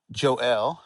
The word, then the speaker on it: Joel: It's Joel, and I love pronouncing it that way.